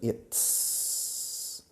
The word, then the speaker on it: it's: Fijaos en la pronunciación. It's. Es un sonido complicado que no tenéis en castellano. It's. La lengua detrás de los dientes frontales, donde los dientes se unen con la encía.